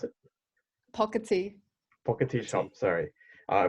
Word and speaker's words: Pocketi: today we have the founder and owner of Pocky shop is that how you pronounce it pocket tee pocket is on sorry I butchered it um